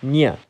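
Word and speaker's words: њ: but it can also be called Ny.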